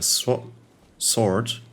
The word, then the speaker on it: sword: weapon, maybe with a sword, not sword. I know there's a W in there, but you're not pronouncing this one right.